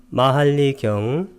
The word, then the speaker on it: 마할리: 마할리경 부제로 출가의 목적이라는 부제가 붙어 있습니다. 빨려로는 마할리 숫다 똑같은 음을 갖고 있는데 마할리 할 때 이 하를 길게 발음하는 것, 그 차이만 있습니다.